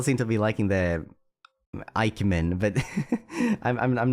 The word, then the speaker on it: Ike: I've seen that pun a lot, but it doesn't really work because my name is not pronounced Ike, it's Ike.